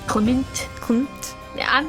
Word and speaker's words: Klimt: I try to pronounce it with the M, but I can't do it. Like, it Klimt? feels weird in my mouth. Klimt? Klimt. Klimt. It's almost like you have to say Clement. Klimt.